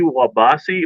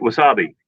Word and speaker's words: wasabi: One is with spicy wabasi, or I don't know. I think that's how you say it. Is it wasabi?